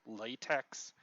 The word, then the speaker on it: LaTeX: You've probably seen it spelled latex. Um, you've probably seen it spelled like you usually see it written like this: capital L A, capital T E, capital X.